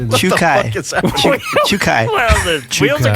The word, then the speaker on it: Czukay: Czukay.